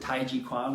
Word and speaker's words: tai chi chuan: chi chuan or tai chi i tend to pronounce it tai chi kwan which is a little bit more chinese so